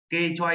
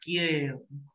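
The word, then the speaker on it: 계좌: Cái này cái số tài khoản này em sẽ đọc là kê choa y chê, không phải là kia, đọc là kê thôi.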